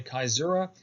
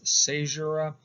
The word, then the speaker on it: caesura: pause is called a caesura, sometimes mispronounced as caesura, but I've been assured by Latin scholars that it is pronounced caesura.